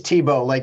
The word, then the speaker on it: Tebow: It is Tebow, like T-E-B-O.